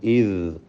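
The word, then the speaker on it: إذ: ഇദ് ഖാല ഇദ് ഖാല. അത് ഇസ് എന്നോ ഇദ് എന്നൊന്നും ആയിപ്പോലെ ദാല് വ്യക്തമാക്കി ഉച്ചരിക്കുക.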